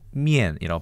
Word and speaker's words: 麵: 중국어로는 미엔이라고 발음하는데, 자, 이렇게 해서 여기까지는 비슷하고요.